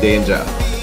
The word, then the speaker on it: Danja: So Danja, you can pronounce it Danja.